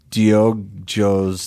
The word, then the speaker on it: Diogo: you'll get the correct Diogo. pronunciation. Okay. And I think it's instead of go, it's Joe. Diogo.